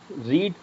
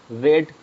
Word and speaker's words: read: Second form के अपन पढ़ांगा रेड, बाकी दो ही फॉर्म के, फर्स्ट फॉर्म के और थर्ड फॉर्म के पढ़ांगा रीड।